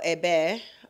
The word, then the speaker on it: Abeille: And ABL also means honeybee in French. So, Abeille is how they say it in French.